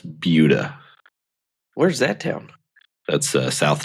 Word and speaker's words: Buda: It's like what about Buda? Buda. It's Buda.